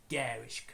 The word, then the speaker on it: garish: They use a lot of garish colours. Yeah, I think that's how you pronounce that word, garish, even though it's spelled like garnish without the N.